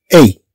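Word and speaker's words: est: لو بابا شرق هنا، إذا طبعا سننطق الكلمة أي ولا ننطقها است.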